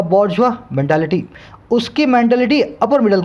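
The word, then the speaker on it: bourgeois: देखने में लगता है क्या है ये, बॉर्जियस, क्या लगता है, बॉर्जियस। अब चाहे इसको आप जो मर्जी बोल दो, इसका सही प्रोनाउंसिएशन होता है बॉर्जुआ, बॉर्जुआ। अब ये देखो फ्रेंच वर्ड है तो अपने इसमें जाएंगे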